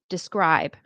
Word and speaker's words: describe: Next, describe. Okay, so the scribe is the stress. Can you describe pain me? That's where the stress is.